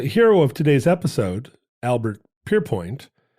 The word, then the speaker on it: Pierrepoint: today's episode Albert perpoint also has a name that could be pronounced a lot of different ways Alber pan he is not French however well it's a pretty Frenchy name it it's very French considering he's British born and bred I'm not 100% sure